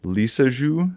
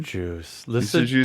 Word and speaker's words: Lissajous: comments, Elliot, talking about, I can never say this word, Lissajous? Is that how you say it? Lissajous. I don't know. In English we say Lissajous. It's probably French and it's probably Lissajous.